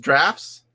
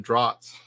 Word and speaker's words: Draughts: It's pronounced drafts. Oh, yeah, very well could be. I always said draughts.